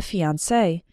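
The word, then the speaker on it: fiancé: man is called the fiancee and the woman the fiancee they're pronounced the same but spelled differently we're getting married next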